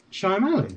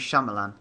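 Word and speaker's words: Shyamalan: no m n shamalan shy Allen it's shy Allen it's sh ya well we're um a lot of plac has pronounced it as shamalan I've always I've always pronounced it shamalan and I pronounced shamalamadingdong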